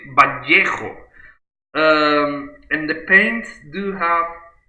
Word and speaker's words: Vallejo: Because Vallejo is Spanish. Actually, we pronounce it Vallejo.